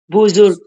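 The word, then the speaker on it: بزرگ: Buzur buz o. Buz dom bukan o ya tapi u.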